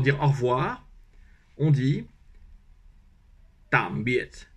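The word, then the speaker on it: tạm biệt: Donc, tam, comme tam, T-A-M-E. Et ensuite, biet, biet. Mais il faut mettre un point sous les deux. Et un point, ça se prononce comme quand on est surpris en français, ah. Donc ça fait tam, biet.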